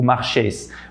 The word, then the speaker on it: marchais: saber qual que é o jeito certo de pronunciar. O outro exemplo seria je marchais dans la rue, eu andava na rua, je marchais dans la rue.